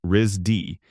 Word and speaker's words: RISD: Known informally as RISD, pronounced RZ D, it is considered one